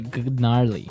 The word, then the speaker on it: gnarly: So, an interesting word, it's spelled Gnarley. Okay, so, but you don't say gnarly. No, You just- say gnarly.